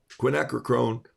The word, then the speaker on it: quinacridone: tennessee it looks like quiche to me okay quinacridone quinacridone gold equine acronym quinacridone gold um daniel